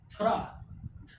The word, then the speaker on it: thorough: थ्रा।